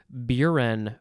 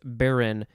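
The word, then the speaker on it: burin: word for this episode is buren or just baron b-u-r-i-n noun from 1662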